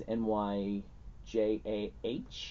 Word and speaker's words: Nyjah: Yeah, he's Nyjah.